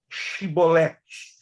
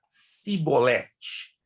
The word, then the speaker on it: Shibolete: Então lhe diziam, dize, pois, Shibolete. Por ele dizia Sibolete, porque ou não podiam pronunciar assim bem.